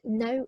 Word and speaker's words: know: our action words now this is one of those kind of annoying spellings in english where it sound no is about with a k it's about k n o w but it is a silent k so when you say it you're not saying that case sounds but the spelling is